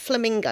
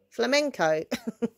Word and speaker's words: flamenco: it flamenco's that he say it flamingo no not flamingo that's a bird flamingo hold on i'm gonna ask knife in a minute sorry is it flamingo flaminco flamenco thank you i still can't say it properly but yeah it's